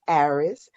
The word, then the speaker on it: Aries: the poet and it is spelled like aries but pronounced arris um and when you